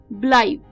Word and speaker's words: blithe: एक अच्छा वर्ड है, ब्लाइट। ब्लाइट, ब्लाइट। जी हाँ दोस्तों, ब्लाइट, BLITHE, ब्लाइट, ब्लाइट। तो ये थोड़ा सा साइलेंट है, इसका जो एंड है वर्ड का, तो ब्लाइट, BLITHE, ब्लाइट।